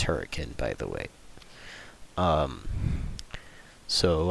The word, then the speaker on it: Hurricane: Well, just the general consensus was hurricane Utah, which is not how you pronounce it. It's hurricane, by the way.